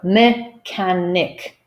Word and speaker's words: mechanic: So if they see that these circled letters are to be pronounced with a K, I believe most of